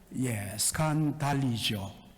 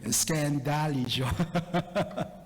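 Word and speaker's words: σκανδαλίζω: 여러분, 헬라어로 뭐라고요? 스칸달리죠. 그런데 우리 장로님은 헬라어를 영어식으로 발음해 스캔달리죠.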